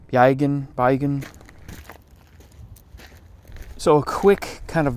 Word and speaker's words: Bergen: This is situated in the town of Bergen, which is pronounced Beigen.